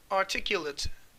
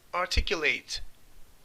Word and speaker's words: articulate: Sıfat olan hali articuled diye okunur. Fiil olan hali ise articulate.